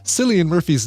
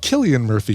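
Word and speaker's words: Cillian Murphy: Silly Murphy's name is pronounced Killian Murphy.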